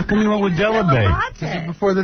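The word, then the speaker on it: Dell'Abate: My parents My mother still says Delivate. My father still says debate. Oh, really? Say delabate? Because a that's the proper pronunciation.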